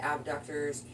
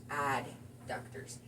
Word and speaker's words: adductors: It's commonly mispronounced. I know so many people that just call it abductors. Sure. People kind of know what you're talking about when you say it, but it's outer abductors, inner adductors.